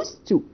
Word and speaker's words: used to: ال pronunciation النطق هنا الدي ما بنطقهاش as if there is no d، لكن انا ببقى عارف ان انا وانا بكتبها بكتب used. اوكي لكن في ال pronunciation في النطق بقول used to plus infinitive طبعا.